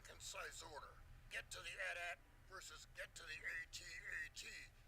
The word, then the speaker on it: AT-AT: It's pronounced AT-AT. Nope, it's an AT-AT. That's how it's spelled, not how it's said. Nope.